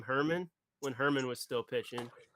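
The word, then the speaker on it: Germán: You said Herman, like German. Herman. How do we say Domingo Herman's name? It's like Yogging from Anchorman.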